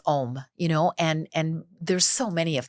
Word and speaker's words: Om: a video that says Om, and there's so many of them. Which is OM, by the way. OM, that's right. Yes. and it's actually pronounced Aum.